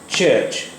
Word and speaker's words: church: देखिए, अब जो वर्ड हम देख रहे हैं, चर्च, CHURCH, चर्च, चर्च, CHURCH, चर्च, चर्च। ये चा साउंड नहीं है, छा है, चर्च, चर्च।